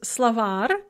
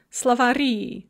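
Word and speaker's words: словарь: secretar a male secretary when we add an ending we actually add a syllable and that stress is going to shift onto that syllable that we add so slovak dictionary becomes slavary dictionaries secretary male secretary becomes secretary male secretaries another thing that shows up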